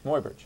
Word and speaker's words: Muybridge: Muybridge.